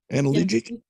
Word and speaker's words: analgesic: Analgesic? Yeah, it's analgesic. Oh, I left out the G, so it's just analgesic.